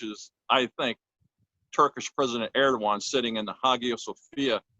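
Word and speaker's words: Erdoğan: Erdogan. Erdogan, okay, because it's spelled Eroagon, Eroagon or something like that.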